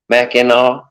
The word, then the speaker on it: Mackinac: They did something, but it keeps spelling it Mackinac, No, it's MAC Mac IN Mackinac It's not AW.